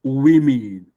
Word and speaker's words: women: You have two syllable we and me. You have the the you have the stress mark coming after the wei. It tells you you are to stress the one the syllable that has that one.